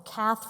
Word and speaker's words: Cath: achievement uh is to have my name rhyme with my organization so cath from path you're going to remember